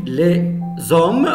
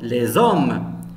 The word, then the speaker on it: les hommes: Mais lorsqu'on dit les hommes, on fait la liaison. Les hommes. Parce qu'il y a ici S entre deux voyelles, se prononce Z.